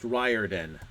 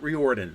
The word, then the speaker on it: Riordan: Lightning Thief by Rick Riordan that's pretty cool yes that's pronounced ryardin I've met him that's Riordan um not reordent Riordan um this one's kind